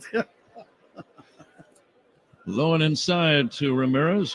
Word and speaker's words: Ramirez: Low and inside to Ramirez, who has 3 syllables in his last name.